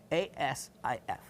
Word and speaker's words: Asif: A-S-I-F. That's it. Just it's very simple. A-S-I-F, Asif. There you go. Great way to, that is as if, pronounced Asif.